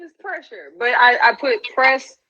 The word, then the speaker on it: PressHer: me crazy I'm like just put it together just mash it together it's pressure um so